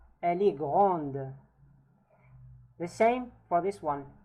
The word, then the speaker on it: grand: Il est grand, grand. Now the D, in case if it's masculine, we don't pronounce it.